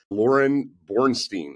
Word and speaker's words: Lauryn Boorstein: We've got a very special guest, Lauryn Boorstein.